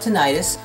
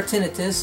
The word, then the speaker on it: tinnitus: to be talking about tinnitus for tinnitus they're both correct pronunciations and if you've got